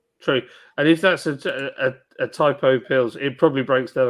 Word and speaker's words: Tipo: And when but when they pronounced it, they call it a typo. A type O. Yeah. That's how they pronounce it. And I was like, is that what it is? Typo instead of T-po? Well, like I've been calling it T-po forever.